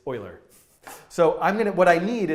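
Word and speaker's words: Euler: way using something called Oiler integration often mispronounced as uler but it's Oiler so I'm going to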